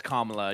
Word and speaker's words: Kamala: be it's it's like it's like the punctuation mark comma yeah it's comma yeah because I had heard